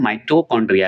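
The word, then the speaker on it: mitochondria: माइट्रोकांड्रिया हम लोग बोलते हैं। माइट्रोकांड्रिया इसे बोला जाता है। ठीक है? लेकिन हम लोग को आदत है इसलिए माइटोकांड्रिया बोल देते हैं। तो इसका मतलब मत समझिएगा कि उच्चारण हमको नहीं आ रहा है। अपना क्षेत्रीय हिसाब से याद करने के तरीके से मैं ये सब बोलता हूं।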